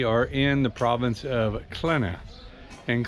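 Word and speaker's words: Qena: Today we are in the province of Klena. And Klena, which is spelled Q-E-N-A, and we're at the Dendera temple.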